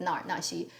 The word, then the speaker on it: Na Er Na Xi: actress Nar Ni or there are two pronunciations of her name. It does not matter actually because that character can really be pronounced in two ways. It just depends on how you personally pick that.